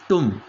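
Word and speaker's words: thumb: होता है टम टम ये बी भी साइलेंट होता है य ध्यान रखना ब बी यहां पर साइलेंट होता है इसको सिर्फ टी यू एम जो फनेटिक लैंग्वेज के अंदर इसको कहते है तुम ठीक है तो इसको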